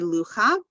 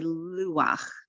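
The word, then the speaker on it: לוּחַ: So we don't say lucha, say luach, ruach, sameach.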